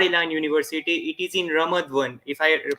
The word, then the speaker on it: Ramat Gan: It is in Ramat Gan, if I pronounce incorrectly.